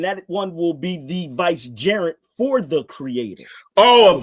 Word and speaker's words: vicegerent: one will be the vicegerent for the Creator. Oh, a vicegerent. I thought you said a gerund. No, I said gerent. I pronounced it with the T clearly.